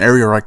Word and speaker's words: Ehrenreich: film stars Alden Ehrenreich I think's I pronounce his last name I think I've heard someone else pronounce it differently but all that area Reich is how I pronounce it so just go with that as a young Han